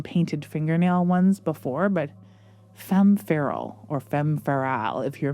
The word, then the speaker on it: Femme Feral: Coming up next, we have Femme Fatale, is how I want to pronounce it. It's Femme Feral, I think, but I want it to rhyme with Femme Fatale so badly.